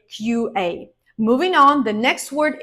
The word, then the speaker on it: QA: this is your job QA engineer QA not Kua QA engineer in general you need